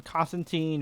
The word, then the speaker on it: Constantine: I never know which way you're supposed to pronounce it. I know British people pronounce it Constantine, so if you're reading an actual Hellblazer comic, you pronounce it Constantine, but this interpretation feels way more like the New 52 version of John, which I pronounce as Constantine to make a distinction.